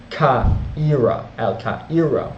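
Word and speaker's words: القاهرة: The Fatimids founded the city of Cairo as well during his reign, or Al-Qaira. Al-Qaira would be the pronunciation, or meaning the victorious.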